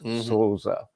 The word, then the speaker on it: Sousa: matter of fact it's the only place we make the long o sound in Portuguese is when it's o u so it's Sosa anyway enough of that